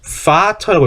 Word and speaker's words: Vater: vater라고 읽죠. vater. 왜? 독일어의 vow는 영어의 f처럼 발음되기 때문에 vater라고 읽습니다.